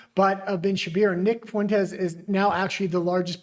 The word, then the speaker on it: Fuentes: I have decided to pronounce his last name in actual Spanish cuz he is part Mexican. Thank god Nick Fuentes represents a dying ideology.